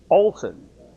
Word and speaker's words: Olesen: Olson. So the E is sort of not pronounced.